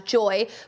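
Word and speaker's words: Joi: people like i said i think you pronounce this brand as joy but they make concentrates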